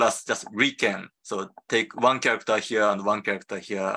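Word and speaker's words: 理研: nobody calls user but people call us just Rican so take one character here and one character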